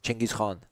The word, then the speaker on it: Genghis Khan: And Genghis Khan. That's kind of all funny. Right. Okay. Yeah, in the Persian nomenclature, we actually pronounce it Chengiz. Chengiz Khan.